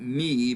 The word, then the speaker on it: mu: I believe if we were Greek, we would call that mi, but we're going to call that mu.